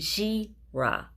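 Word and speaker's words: Jerah: Joktan became the father of Almadad, Sheleph, Hazarmaveth, and Jirah. Starts with a J, but it has a G pronunciation.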